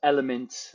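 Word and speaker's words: LMNT: drop the liquid IV the element uh but it's spelled l-m-n-t uh those are all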